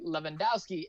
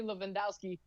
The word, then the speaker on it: Levandowski: This one is the ex-Google engineer, Anthony Levandowski, actually got sent to prison for 18 months for actually stealing trade secrets from Google.